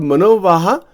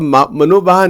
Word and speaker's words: manovaha: It's called manovaha.